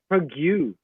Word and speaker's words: Prague: Normally naman kayo Prague. Prague. It's pronounced Prague.